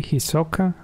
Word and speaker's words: Hisoka: Hisoka with the accent on the second vowel.